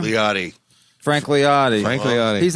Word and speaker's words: Liotti: Frank how do you say your last name leotti Frank leotti Frank leotti he's a man's man